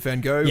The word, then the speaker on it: van Gogh: This is about the life and times of Vincent van Gogh, or Van Gogh, I think as it's pronounced in Dutch.